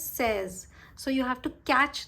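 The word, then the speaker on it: seize: Okay, now you have to remember that 16 is a little different from 6. 6 is C's, 16 is says.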